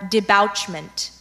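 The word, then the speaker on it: debouchment: there any alternate pronunciations yes there's de Bushmen t' d bouche mint or debouch mint may have the part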